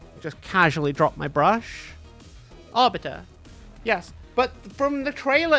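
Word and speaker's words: Arbites: How do you say that? Arbite or RBT? Arbite. Adeptus. Arbite. It's orbiter, isn't it?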